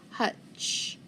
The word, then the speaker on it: hutch: tch so underline it the t is going to be silent it's got to be a short u because it's in front of tch so hutch hutch and the hutch is